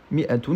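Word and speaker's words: مائة: Mi'atun, traditionnellement, on l'écrit mi, avec une kasra sous le mim, et ensuite un alif, qui est juste orthographique et qui n'a pas de rôle dans la prononciation du mot.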